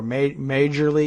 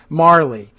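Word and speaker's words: Majerle: So the name that I had pronounced incorrectly before, Majorly, is pronounced Marley.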